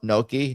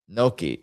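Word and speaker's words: gnocchi: The G is silent. You say you do not say ganaki. The gn makes a soft nasal ny sound similar to the in Spanish.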